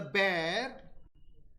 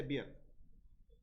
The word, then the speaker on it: bear: When he saw the bear, how do you pronounce B-E-A-R? Bear. Never say beer. Okay? Because we have the tendency of saying B-E-E-R and B-E-A-R with the same pronunciation. So B-E-E-R is beer, B-E-A-R is bear.